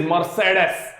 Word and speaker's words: Mercedes: It is Mercedes. Alright, Mercedes. Alright, Aston, yeah, of course, Aston Martin तो simple है, उसका मेरे को प्रोनाउंसिएशन तेरे को सिखाने का जरूरत नहीं है, पर it is Mercedes.